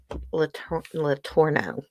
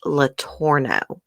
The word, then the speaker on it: Letourneau: Now we can talk about Mary Kay Letourneau, however you say it. I think it's actually pronounced Letourneau. Anyways, I ran across an article, and her estate has been settled.